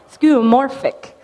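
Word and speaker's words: skeuomorphic: if you heard that but that's how you pronounce it cuz I screw up everything so text to speech is my friend skoric okay and this is the idea that skoric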